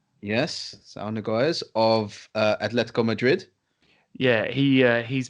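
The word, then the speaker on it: Saúl Ñíguez: Sal Niguez? Yes, Sal Niguez of Atletico Madrid.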